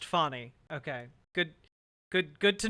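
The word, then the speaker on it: Fani: time and extraordinary okay it is pronounced funny okay good good good to know good good to know funny uh all right gotcha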